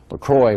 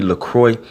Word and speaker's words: LeCroy: seen this eaten my Brandon Corey Lacroix I believe is how his name is pronounced and he actually uh